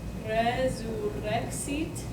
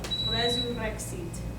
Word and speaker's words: resurrexit: the word resurrexit, okay, if the R is at the beginning of the word, or if it's double, this is the perfect example of that, then it will always be a rolled R, okay?